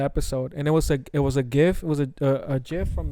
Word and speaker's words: GIF: Adam before the episode, and it was a GIF, it was a GIF from the Dreamcatcher movie.